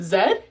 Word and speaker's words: Z: called provinces not States they pronounce the letter Z Zed and real quick I